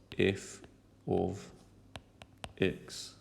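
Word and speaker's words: f(x): Okay, now f of x is pronounced, well I just said it, the f with the x in bracket is pronounced f of x.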